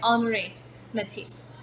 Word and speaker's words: Henri Matisse: This week we are learning about an artist named Henri Matisse, or if you want to pronounce his name the French way, Henri Matisse.